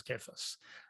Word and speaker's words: Cephas: actually, everyone says Cephas. It's actually Kephas. It's a hard C, which is like it's because it's coming from Kepha.